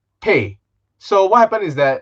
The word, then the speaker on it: Pei: been called i prefer pay it's it's easier for me to pronounce some people call me pay so what happened is